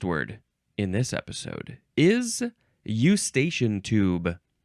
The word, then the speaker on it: eustachian: The first word in this episode is eustachian tube. Eustachian. The next word is tube. Tube. Like a slide is a tube. You can also pronounce it eustachian tube. Some people like to say eustachian tube.